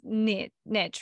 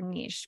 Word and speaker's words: niche: you fall into this Niche or Niche people pronounce it two different ways but this niche of